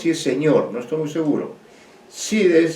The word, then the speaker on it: Cide: Cide, Cide, creo que Cide es como si es señor, no estoy muy seguro. Cide es C-I-D-E, Cide.